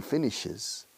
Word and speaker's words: finishes: She finishes. She finishes. Se ha añadido una sílaba aquí. Finish, finishes. Porque termina en SH. Finish exige una sílaba más para rematar bien la tercera persona del singular.